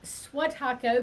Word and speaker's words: Swiatocho: there's no but one s in my name swat taco but my name is by the way i